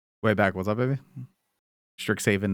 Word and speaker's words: Strixhaven: Stricks haven, not sticks haven.